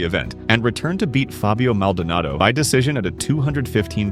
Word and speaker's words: Fabio Maldonado: Initially pulled from UFC 186 Rampage was reinstated just days before the event and returned to beat Fabio Maldonado by decision at a 215 lb catchweight.